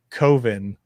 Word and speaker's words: Coven: But American Movie they're making it's Coven, but it's spelt Coven, so everybody thinks it's it's like oven.